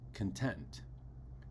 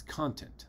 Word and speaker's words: content: For example, if I have the word spelled CONTENT as an adjective, I know that it's pronounced content, right? But if it's a noun, it's content, the content of that book, right?